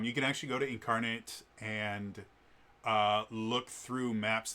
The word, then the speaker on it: Inkarnate: Uh, it should be pronounced incarnate. Um, but I just want people to understand that it's INC ink and then arnate. So, it's incarnate, but uh it's a fantastic website um that